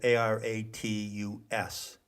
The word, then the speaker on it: Aratus: you go to the greek astronomer whose name is spelled a-r-a-t-u-s maybe aratus and you will find primary source